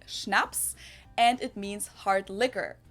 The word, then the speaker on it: Schnapps: alcohol culture in German we spell it like this and say Schnapps and it means hard